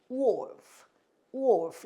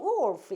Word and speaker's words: wolf: 그래서 울프 하지 않고 우리는 이거 옛날에 울프라고 배웠는데 울프가 아니고 wolf 이건데 리을 발음이 자연스럽게 잘 나오질 않는다. 그래서 마치 리을 발음을 안 하는 것처럼 wolf 이렇게 한다.